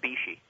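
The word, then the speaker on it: Bisci: Is that how you pronounce his name? Yeah, Dr. Fred Bishi.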